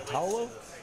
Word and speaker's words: Paolo: White opened with ace queen there under the gun +1, 150, and I say his name is Paolo.